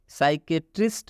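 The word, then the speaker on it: psychiatrist: silent हो जाता है मतलब पी का उच्चारण नहीं किया जाता है नेक्स्ट साइको थेरेपी इसमें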